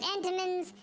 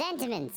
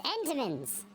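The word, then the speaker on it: Entenmann's: But we're dealing with Enamman's cherry little cake. Little pies. They're not cakes. They're They're pies. We're not doing Little Debbie. It's Entimmans. Entimmans.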